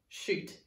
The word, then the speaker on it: chute: the sound can you teach it to me shoot ch ute our next word is chic c'est